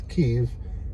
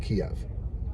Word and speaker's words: Kyiv: So, it's not the Ukraine, it's Ukraine and it's Kyiv, not Kiev. So, K Y I V is Kyiv. K Y I I Well, K What is it? K Y I V? Kyiv. And Kiev, K I E V, is the Russian spelling.